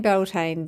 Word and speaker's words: Beltane: this belain and I I'm saying belane because that's the English way basically of saying the the name of the gaic festival and I know I'm